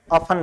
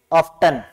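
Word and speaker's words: often: तौर से ऑन प्र इसका उच्चारण भी आप देखें ऑन ब्रिटिश इंग्लिश में ट साइलेंट होता है ऑन बोलेंगे इसे और अमेरिकन इंग्लिश में ऑफ्टन ठीक है तो नोट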